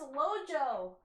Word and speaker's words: LoJo: grant from jurassic park no it's not lolo it's lojo lojo dj lojo sorry i got your